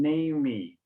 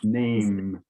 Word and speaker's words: name: significant okay thank you you gave a little bit of the brazilian pronunciation name me but no it's it's name silent e okay so so what